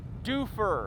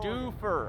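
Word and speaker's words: Dufur: How do you spell it? D U F U R. Dofer. Yep. Duper. Dofer.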